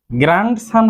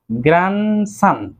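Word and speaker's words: grandson: গ্র্যান্ডসান হবে না, কিন্তু এখানে ডি লেটারটির সাউন্ডটি উজ্জ্ব থাকবে, সঠিক উচ্চারণ হবে গ্র্যান্ডসান, নাতি।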